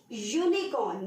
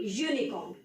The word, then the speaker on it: unicorn: Look at this one, dash unicorn. Now again, besides of the fact that U is the vowel, but it does not have the vowel sound. So we will consider it as consonant. So it will be a unicorn.